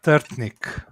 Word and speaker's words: Trtnik: Ljubljana Trtnik.